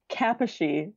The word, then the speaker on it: Kaposi: Kaposi sarcoma. Is that how you pronounce it? Yes, this is a Hungarian name.